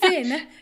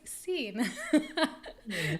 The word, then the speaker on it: Seen: cena to sold out i know people say that i pronounce it as a sin but it's not sin it's scene so from it to